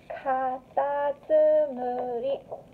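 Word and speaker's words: かたつむり: In Japanese, the word snail is katatsumuri.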